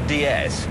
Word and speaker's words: DS: what we call the DS is in France pronounced DS DS It's the French word for goddess it was no is